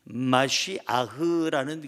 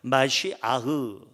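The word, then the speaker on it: מָשִׁיחַ: 히브리어를 찾아보면요, 원래 발음은 마시아흐라는 그러한 발음이에요. 한번 따라할까요? 마시아흐.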